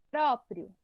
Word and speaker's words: próprio: Se o prio fosse mais forte, a gente falaria próprio. Sim. Não é assim que a gente fala próprio, certo? Então, a mais forte é o pró.